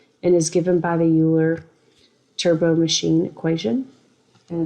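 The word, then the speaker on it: Euler: is given by the uler turbo machine equation and it's also called the UL turbine formula or the oiler depending on the pronunciation so here's the UL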